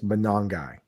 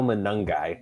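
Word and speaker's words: Monangai: It was It was uh told to me that's Manongi. Manongi. Not how I've been saying. Kyle Manungi.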